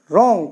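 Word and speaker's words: wrong: गया नेक्स्ट रंग blue R ओ एन जी रंग तो रंग मेंस गलत क्योंकि आर से पहले डब्लू इसी तरीके से रीत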